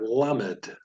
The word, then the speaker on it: lamed: 12th letter of the alphabet is the letter lamed. Lamed. Lamed is pronounced like the L in the word little, or some would say little.